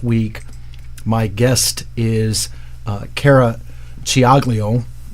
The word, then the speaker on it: Ciaglio: Being Italian, I can say it the right way. And she, Ed's back there laughing. Well, it's true. You know, you have to know how to say the C's and the CH's and the CC's. And they don't match up as we say it in English.